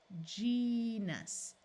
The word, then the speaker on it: genus: has its long sound this G is followed by an e so let's try the short not the short the soft J sound j e Gus genus genus now let's learn